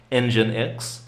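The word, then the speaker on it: nginx: It's pronounced engine X.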